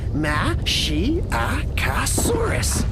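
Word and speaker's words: Masiakasaurus: you tomorrow wow i'm mashyakosaurus you say it like this ma she ah casaurus and my name means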